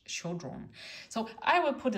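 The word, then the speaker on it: Chödrön: I don't know how to say it in English, because we have this Ö in German, so she is Pema Chodron in German. But I have heard her name in English, Chodron.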